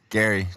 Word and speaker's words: Gerry: So it is Nate Gerry. Gary. It's pronounced Gary, but spelled Gerry.